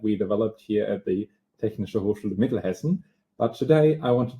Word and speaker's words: Technische Hochschule Mittelhessen: He is a university lecturer for data protection and data security in medicine at the, Samuel, can you just pronounce the university? Technische Hochschule Mittelhessen.